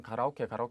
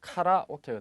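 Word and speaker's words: カラオケ: 한국 사람들은 가라오케 하는데 정확한 발음은 카라오케가 되겠죠. 즉 의미가 어떻게 됩니까?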